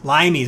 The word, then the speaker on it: limes: Limes. I looked it up. The pronunciation is limes. It's an old Roman word, Latin word.